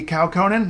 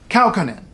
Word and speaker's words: Kaukonen: of the time so if you see a name that looks like it should be kaukonen no Kaukonen always remember that stress on the first syllable tip to every letter